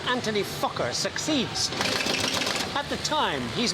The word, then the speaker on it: Fokker: But a pal of his called Anthony Fokker succeeds.